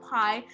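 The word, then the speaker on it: π: sounding then we have pi now pi is pronounced like p not pi let me have alpha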